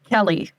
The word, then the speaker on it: Kelle: That's how you pronounce your name, right? Kelly. Kelly. Kelly. Really? With a E and not with a Y.